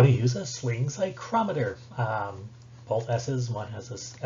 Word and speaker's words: psychrometer: But the sling psychrometer, spelled with a PSY, psychrometer, like psychology. So this is gonna be how you use a sling psychrometer to measure humidity.